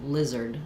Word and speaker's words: lizard: is the unstressed syllable, it doesn't have an R for the letters AR. They're going to say an sound. And it's going to be very short, lizard, zerd. So you can almost think about going right from your z to your zer, zerd, lizard. Yeah, it doesn't really match the spelling. It looks like it should be like lizard, but it's lizard. Similar to blizzard or wizard.